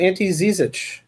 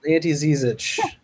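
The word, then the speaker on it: Ante Žižić: I'm going to talk about Ante Zizic for the Cleveland Cavaliers.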